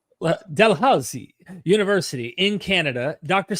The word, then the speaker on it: Dalhousie: Yeah, except Dalhousie. There's all these old Scottish names, so I'm sure they'd yell at you if you didn't roll your R's properly. Dalhousie University in Canada.